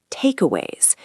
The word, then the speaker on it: takeaways: The stress is on the first syllable, takeaways.